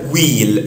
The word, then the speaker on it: huile: احنا عندنا huile يعني زيت. Huile. طبعا هنا الاش مش منطقها.